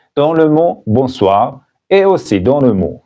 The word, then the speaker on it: bonsoir: Mais après le coucher du soleil, il faut dire bonsoir et non pas bonjour. Bonsoir. N'oubliez pas que le N ici n'est pas prononcé parce qu'il est nasal. Le N dans le mot bonsoir et aussi dans le mot bonjour n'est pas prononcé.